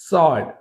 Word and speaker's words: sword: Sword, sword, not sword, sword అనకూడదు, sword, right. Who, W silent, హూ. ఇంతకుముందు మనం what అన్నాం, వాట్లో ఏమైంది, H silent, right, what. But ఇక్కడ హూ, హూలో H pronounce, W is silent.